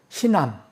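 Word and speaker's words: Hinnom: 이 흰놈이라는 우리 번역이 흰놈으로 돼서 좀 어감이 그런데 흰암입니다. 이게 원래 영어 발음은 흰암.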